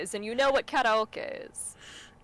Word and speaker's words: karaoke: Karaoke is just how you pronounce karaoke in Japanese.